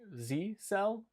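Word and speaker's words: ZyXEL: Well, I did say Ron in the chat said it's pronounced, I think, Z-cell, Z-I-I-I cell, Z-cell.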